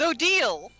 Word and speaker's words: Odile: But we have the canon pronunciation by the creator. Odile. It's Odile.